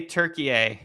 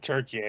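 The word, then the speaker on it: Türkiye: I still don't I still don't I still don't pronounce it Turkeye. All my All my friends who are Turkish just say Turkey.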